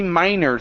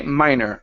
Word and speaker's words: minor: Next one here is relatively minor things instead of meaner. Okay. Minor.